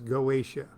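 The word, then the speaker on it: Goetia: effective variety of solomonic magic is known as goatia that's g-o-e-t-i-a please pronounce it any way you want and his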